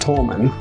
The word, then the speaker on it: Toulmin: It's pronounced Tolman, like a tollbridge.